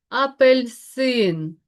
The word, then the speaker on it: апельсин: Уе еу в і слово у нас сьогодні апельсин. Обов'язково ставимо наголос, який падає на третій склад. Вибачте, да, на третій склад. І наголошую те, що тут е у нас є ненаголошена.